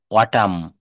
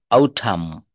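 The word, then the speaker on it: autumn: অটাম, আউটাম, আউটাম, আউটাম।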